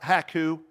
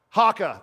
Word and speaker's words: haka: the those things in a rugby called a hacku or hacka you should Google that on a on a um did I not say it right Haka thank you yes so this is an witness